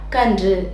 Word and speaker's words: கன்று: இனவெழுத்தின் மெய்யெழுத்து இருக்குது இல்லையா அது கூட சேர்ந்து வரும்போது எப்படி உச்சரிக்கணும் அப்படின்னா இன்று இன்று இந்த மாதிரி உச்சரிக்கணும் எடுத்துக்காட்டா கன்று கன்று அவ்வளவுதான் சரி இப்போ சில